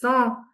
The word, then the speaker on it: sont: Do we produce the T sound on sound? No, we will not pronounce a T sound over here. It will be ce sont des maisons.